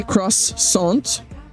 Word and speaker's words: croissant: I've been called pretentious by Americans for pronouncing croissant the French way. I was taught to call it that, so I do. We say crossont crossont. I mean, at the end